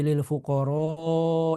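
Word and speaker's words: للفقراء: Jadi di lil fuqara ini itu dipanjangkan ya. Apa dengan menggunakan mad ya, panjang gitu.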